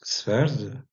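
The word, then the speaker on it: sweord: Et Swerdanis, donc, va donner, par exemple, en vieil anglais, on va avoir Sveord, qui se prononce Sverd, et qui va donner tout simplement l'anglais d'aujourd'hui.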